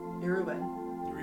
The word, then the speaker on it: Yoruba: Witches of All Colors, but they were all Yoruban. Did I pronounce it right?